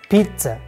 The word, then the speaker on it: pizza: yeah the next one pizza not pizza I love pizza just simply stop at the z letter and add T letter in pronunciation Pizza Pizza add tea before Z Pizza but in writing there